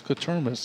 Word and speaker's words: Quatermas: It's Quatermas is how you say it. Is it? Quartermoose?